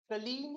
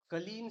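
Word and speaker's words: Kleene: जिसे हम कहते हैं कलीम स्टार क्या कहते हैं कलीम स्टार एक्चुअली यह वर्ड ही ऐसा है उसकी स्पेलिंग मैं आपको बताऊं के एल L double E एन ई कलीन स्टार ठीक है मे बी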